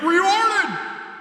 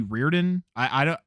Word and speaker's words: Riordan: I think it might actually be Reardon. We always said Riordan in my house because that's how it's spelled, but I think phonetically it's actually pronounced differently.